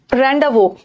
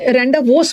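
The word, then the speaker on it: rendezvous: Criminal, रैंडावो, ये वाला ना रैंडावोस मत पढ़ना, इसका एस साइलेंट है।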